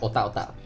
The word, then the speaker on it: otak: Although I think most people in Singapore tend to pronounce it as Ota or Otar. Mainly because I think most of them Ota might be how it's pronounced in Hokkien, I'm not sure.